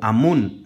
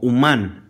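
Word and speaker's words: אמון: No lo pronuncien como Amún, sino como Umán, artesano, que es literalmente un artífice, porque era su instrumento de arte para la creación del mundo.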